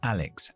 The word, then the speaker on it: Alex: Siempre pronunciamos la X como KS cuando va al final de la sílaba. Así que Alex and Ben.